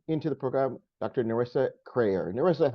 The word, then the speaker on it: Kreher: last name yeah yeah it's crayer so rhymes with prayer all right and I want to welcome into the program Dr narissa crer narissa how are you